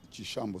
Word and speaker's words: Chishambo: écrire le prénom, Tchishambo, c'est avec CI, mais ils ont voulu mettre TCH. Bon, ça s'écrit dans certaines provinces de la République démocratique du Congo, mais pas chez nous. Chez nous, Tchi, c'est CI, comme le Tchi latin pour ceux qui ont fait les littéraires.